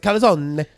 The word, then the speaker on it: calzone: coffee with the czone but they pronounced it kazone um and I was